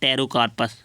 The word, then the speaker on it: Pterocarpus: ठीक है, और दूसरे होते हैं टेरोकार्पस, टेरोकार्पस भी बोलते हैं इसे, टेरोकार्पस भी बोलते हैं। ठीक है, तो पीस में साइलेंट होता है इसलिए टेरोकार्पस बोलते हैं इसे।